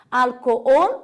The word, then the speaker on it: alcohol: Alcohol, a sílaba tônica é ol, a última, em português é álcool.